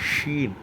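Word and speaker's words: ش: அதற்கு அடுத்து உள்ள எழுத்து ஷீன். ஷூ என்று கூறும்போது எவ்வாறு நாம் உச்சரிப்போமோ அதுபோல உள்ள ஷீன் என்று கூறப்படுகிறது. அதற்கு அடுத்து உள்ள எழுத்து சுவாது.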